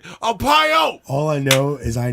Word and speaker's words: Arpaio: Sheriff Arpaio? Arpaio. Arpaio, yeah.